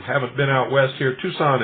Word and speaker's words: Tucson: For those of you who haven't been out west here, Tucson is spelled T-U-C-S-O-N. Tucson, Arizona, 85702.